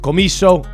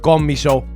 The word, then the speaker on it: Commisso: Some pronounce it Commisso, others pronounce it Commisso.